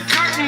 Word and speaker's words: curtain: Now let's listen to the way Eminem actually pronounced this word, curtain. How could it be that the curtain is closing on me? He didn't say curtain, all right? He just didn't use the T.